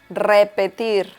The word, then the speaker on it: repetir: and it is pronounced repetir repetier and another thing that you should pay attention to is that the last R is also pronounced a little strong so you say it